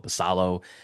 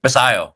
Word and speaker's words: Basallo: lot of faith in Basal. Am I pronouncing that right? I just want to make Basayo, Sammy Basayo. Basayo. It's the Yeah. double L's. It's the double L's.